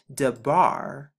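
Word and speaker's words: דבר: the difference now is we're placing a dollar right here to get the d sound the bath to keep the b sound and the rush to get the r sound to get the words de bar and as you can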